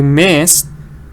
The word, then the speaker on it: missed: te at the end because missed Ed is pronounced like the test thing you missed you